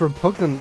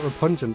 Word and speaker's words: Repugnant: wrong the whole time it's repugnant bouncy not repungent bounty ah go away